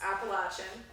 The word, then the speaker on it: Appalachian: Craig made fun of the correct way to say Appalachian which is Appalachian so there are is